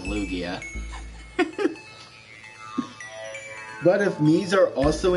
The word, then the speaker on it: Lugia: That or Luigi, as to kind of make fun of people mispronouncing my name as Luigi instead of Lugia.